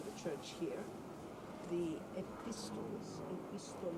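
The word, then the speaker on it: επιστολή: And of course, well known are also the letters that he sent to the church here, the epistles, epistole, which is actually how it's pronounced, modern Greek, as I say, the letters that I'm a barefoot person.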